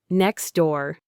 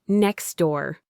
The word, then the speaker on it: next door: If you say it very carefully and slowly, you can pronounce the T sound in next door. But in a fast, natural conversation, that T sound almost always vanishes. We say next door. The T is just too much work to pronounce when it's squeezed between the X sound and the D sound.